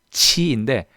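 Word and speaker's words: 气: 왜냐하면 뭔가 우리나라에서 얘를 읽으면 키로 읽고 싶은 마음이 들어요. 저도 처음에 그랬습니다. 여러분도 그러시죠? 근데 얘가 치인데 발음이 많이 새는 치예요.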